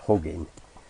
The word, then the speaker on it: Hugin: though he's going to give somebody a big hug, and the name Hugin comes from the program hugs all of your images and gathers them in to a single image, and that's why I pronounce it Hugin.